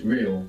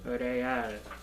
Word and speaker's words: real: say real in Spanish real real real real good when we have an r at the beginning you might hear it like rolling real how do you think you would say really real real also means